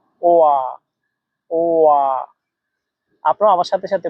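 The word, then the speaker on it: 我: এখানে দেখেন এটাতে চাইনিজের তিন নাম্বার টোন ব্যবহার করা আছে। তিন নাম্বার টোন উচ্চারণ নিয়ম হচ্ছে উপর থেকে নিচে আবার নিচ থেকে উপরে। ওয়া ওয়া আপনারা আমার সাথে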